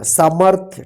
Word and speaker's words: सामर्थ्य: देखिए य प सामर म के बाद आधा र का उच्चारण हो रहा है र सामर थ टी एच वाई ए क्या हो गया सामर्थ ठीक ये आपका सही हुआ सामर्थ्य ठीक इसको ध्यान रखिएगा